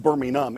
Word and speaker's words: Birmingham: the second largest city of England, Birmingham, England, pronounced Birmingham in England as opposed to Birmingham, Alabama.